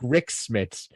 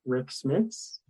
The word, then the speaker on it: Smits: Tears Garbage Water has checked in with Rick Smits. Oh, Fudge, what did you guys check in with? It's all it could be was Rick Smits. Big and white, rhymes with chiclets.